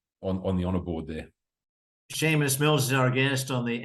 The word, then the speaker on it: Sheamus: that perhaps some of the not quite so bright Australians might uh not call me Seamus so um the H was really just a pointer to um to uh for people to get my name wrong well I think the